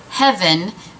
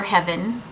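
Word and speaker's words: Hevyn: And I hadn't planned on picking up another one, but so many of you said I needed to get the color Heaven, which is spelled H-E-V-Y-N.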